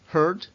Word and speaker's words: hurt: el herir hurt hurt un sonido muy difícil que cuesta mucho de pronunciar y de aprender a pronunciar acordaos que es una e muy cerrada para lo cual hay que la lengua y hay que doblarla hacia atrás la vamos a ver